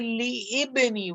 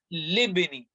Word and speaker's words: لابن: So I didn't say li ibni. I said libni. Alif is silent now. Hamzatul wasl is silent.